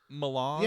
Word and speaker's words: melange: How is that word pronounced? Melange? Spice. Not spice. Melange.